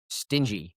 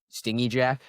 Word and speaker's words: Stingy: The origin is Stingy Jack, and Ryan just kept Stingy Jack. Like it was a hard G instead of stingy.